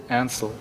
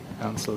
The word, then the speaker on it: Ansel: was the last name oh I spell this is spelled a-n-s-e-i-l Ansel okay Ansel yeah and do we have your permission to